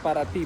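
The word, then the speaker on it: Paraty: Verde, ao sul do Rio, perto da praia (pronuncia-se Parati com "i").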